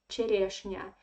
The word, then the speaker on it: черешня: And again, here the stress is on the second year. That's why the first year we pronounce like E.